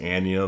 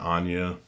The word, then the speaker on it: Anya: Starring James McAvoy as Anya Taylor-Joy. I explained on Saturday how I've learned that her name actually is Anya. That's the way she pronounces it, not Anya.